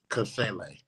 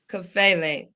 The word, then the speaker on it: Kafele: Kafele. Kafele.